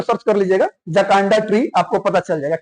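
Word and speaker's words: Jacaranda: द जकारांडा नहीं लिखा है। ये लिखा है जकांडा। इसमें कहा जो आर ए है ना वो थोड़ा सा साइलेंट है। ठीक है? एक्चुअली जो जकांडा होता है नॉट जकरांडा।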